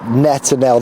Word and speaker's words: Netanel: of solidarity with Israel for uh netanel that's how uh I've been told they pronounced his name here they've seen him coming